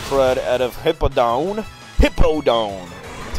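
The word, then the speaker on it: Hippowdon: beating whipping the crud out of hipaa down hippo down that's how you say it and well more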